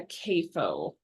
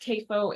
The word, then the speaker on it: CAFO: So it could be pronounced CAFO, it could be pronounced CAFO. I actually did some research on this when I started this project because I wanted to make sure I was saying it right, and found that it's just kind of a regional thing that it's pronounced both ways and it's correct.